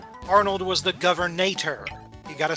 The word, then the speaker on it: Governator: Arnold was the governator.